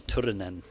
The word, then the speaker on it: Turunen: you pronounce his name but you need to roll the R's Turin n and Yakko is the